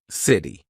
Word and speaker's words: city: We're going to use that quick D. So city, right? I'm not saying city. It's in between two vowel sounds.